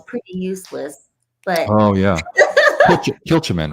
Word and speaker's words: Kilchoman: But oh yeah, Kilchoman, right? Kilchoman, is that how you say it? Kilchoman.